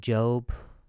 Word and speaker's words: Job: Gosh, sometimes the Lord, he's like, the book of Job I pronounce it Job, but it's spelled like job, and you need to go provide comedy for people.